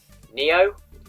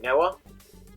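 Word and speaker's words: Nioh: It is, however you want to pronounce it, Neo or Noah.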